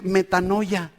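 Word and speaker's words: μετάνοια: ¿Sabe qué es una palabra que se pronuncia metanoia, de donde obtenemos metamorfosis?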